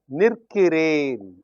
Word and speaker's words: நிற்கிறேன்: Nil plus kiru plus yen, l becomes r, so that the pronunciation will be easier. The result is you have nirkiren. Nil plus kiren becomes nirkiren.